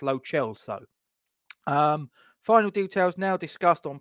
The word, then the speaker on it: Lo Celso: That's how I'm told it's pronounced, Lo Celso.